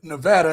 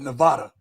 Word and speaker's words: Nevada: being it's like being in Nevada and you call it Nevada yeah yeah man don't call it Nevada they will be pissed they even have it at the DMV on the wall how it's pronounced that's how I serious